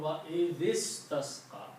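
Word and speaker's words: وَاسْتَسْقَى: When you read it together, then you combine the zal with the sin and do not pronounce the alif here. So it will sound wa is tasqa.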